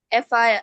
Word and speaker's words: affair: advise, advice, advise, advice, affair, affair, affair, অ্যাফেয়ার affair, affair, অ্যাফেয়ার affair, affair, অ্যাফেয়ার না ফেয়া না এ ফ আর এল এ তাহলে কি হলো ফ্যা অ্যাফেয়ার affair, affair, আর উচ্চারণ হবে না ফ affair, আর হলো